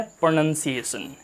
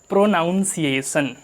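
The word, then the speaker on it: pronunciation: प्रोनाउंसिएशन। ये प्रोनाउंसिएशन बिल्कुल भी नहीं है, ये है प्रोनंसिएशन।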